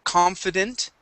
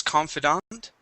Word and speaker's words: confident: The word is confident. Okay. Uh, you would pronounce the the ending as confidant.